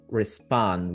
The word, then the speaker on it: respond: Uh here respond res res. This is an i sound. It's It's not a schwa, but it's also a fast sound and also Okay.